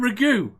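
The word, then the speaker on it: ragù: And Ragu? In the South, it's called ragu, not ragu. It's ragu. You have the emphasis on the wrong syllable for us to understand what you're saying.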